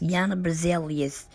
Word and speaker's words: Jana Berzelius: Jana Berzelius is how it's pronounced. Jana Berzelius.